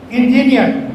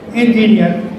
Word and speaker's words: engine: Here this is not engineer. Mostly we pronounce engineer. This is engineer. This is F. Engineer. Engine, not engine. We say engine, that's wrong. Engine.